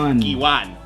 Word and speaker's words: Guiuan: Guiuan.